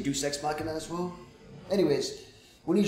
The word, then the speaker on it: Deus Ex Machina: I say Deuce X mission. I know I'm saying it wrong. I know I'm saying it wrong. Deus Ex Machina. Alright, Deus Ex. Okay, that's correct.